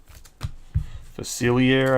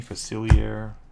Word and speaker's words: Facilier: out of his name it's French so facilier I think is how you say his name facilier something like that Dr